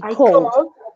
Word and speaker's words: called: I called yes but you do not pronounce ID at the end only Cole I called my dad